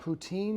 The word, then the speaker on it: poutine: How do you pronounce that? Poutine?